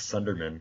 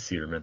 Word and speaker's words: Suderman: I thought it was Sunderman. There is no N. It is Suderman. That's so weird. I've been saying it wrong.